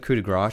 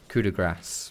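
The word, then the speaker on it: coup de grâce: in in my comments saying that I should pronounce this sort of coup de Gras to pronounce it coup de Grasse which is what I would imagine if it was if you're going for the French pronunciation coup de Grasse cuz that's how you pronounce that what this grace in French would be grass but for some reason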